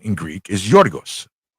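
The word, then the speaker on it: Γιώργος: I hated that I hated pronunciation for Greek in Greek. What is it? Yorgos. Yorg. Yorgos. Yorgos sounds really cool.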